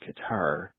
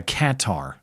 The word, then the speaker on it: Qatar: The problem is it's it's Arabic, so we're all saying it wrong. It's probably like Cutter.